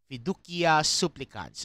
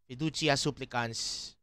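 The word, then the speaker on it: Fiducia supplicans: this Vatican document called fidia supplicants sorry I am going classical Latin for this but uh that's how it is pronounced in classical Latin so uh and puchia supplicants yeah I mean it's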